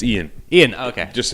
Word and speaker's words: Iain: Is it pronounced Aian? It's Ian.